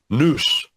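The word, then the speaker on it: nous: the Greek word for mind is not there noose in O us in the English it's pronounced that way word mine's not there what's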